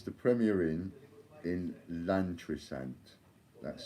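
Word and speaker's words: Llantrisant: So it's the Premier Inn in Lantrisant. That's spelled L-L-A-N-T-R-I-S-A-N-T, Lantrisant, Premier Inn.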